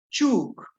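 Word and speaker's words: chúuk: La primera palabra, chuk, es una vocal con tono, chuk. Pero en la segunda columna el sonido es ch, chuk, espiar. El primero es chuk, el otro es chuk. ¿Dónde sale el sonido? Sale exactamente del mismo lugar, solo que cuando suena con la vocal glotalizada, hago más fuerza como para que no salga el aire.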